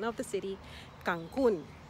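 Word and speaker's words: Cancún: pronunciation of the city cancun with the emphasis on the u and a beautiful one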